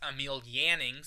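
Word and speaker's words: Emil Jannings: and the film stars Emil yanning finally pronouncing that one right the winner of the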